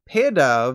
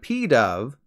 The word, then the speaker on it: Pidove: Pancham instead of Pancham pidove instead of P Dove piggy pack instead of